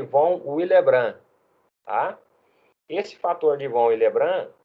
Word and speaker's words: Von Willebrand: fator de Von willebrand se escreve Von willebrand bom com B mudo no final mas se pronuncia fator de Von willebrand tá esse fator de